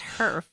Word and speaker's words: HERF: Herf. HERF I keep wanting to say funds. I I keep wanting to know. say like heifer, like a I know, cow, I but know. it's herf.